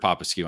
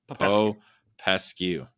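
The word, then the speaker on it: Popescu: I heard Papcu on the mic, just so you know. Not on Sunday. Not on Sunday. So So say Pescu. Po pescue. Okay. So like it's spelled Po Pescue.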